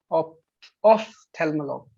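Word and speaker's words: ophtalmologue: Shell मेत्सा, shell दोनतीस, shell ऑप्थेल्मोलॉग, ऑप्थेल्मोलॉग, ऑप्थेल्मोलॉग, ऑप्थेल्मोलॉग, या नाउ the pronunciation is correct.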